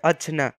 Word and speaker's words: অজ্ঞ: অজ্ঞ শব্দের উচ্চারণ হয়ে থাকে অজনা।